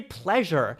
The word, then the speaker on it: pleasure: How do you say pleasure? The S sound, right, is a sound like a zh or a J sound. Pleasure.